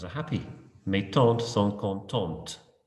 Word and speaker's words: contente: Mes tantes sont contentes. And again, I pronounce the ending, contente.